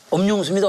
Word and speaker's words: 엄용수: 그런데 아무리 엄용수입니다, 엄용수입니다 이렇게 해도 사람들이 엄용수 씨를 모시겠습니다, 엄용수 씨를 모시겠습니다 계속 영수로 발음하는 거예요.